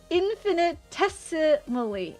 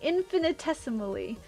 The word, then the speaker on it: infinitesimally: In in infinitimaly infin infinitim infinimile infinimal infinimile I just read it as mellow violent infinitesimally infinitesimally that's how I say it infinite infinitismally inf well I Guess I say infinitismally.